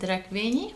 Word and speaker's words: Rekvényi: I pronounce it Rekvényi, but I think you made a great effort.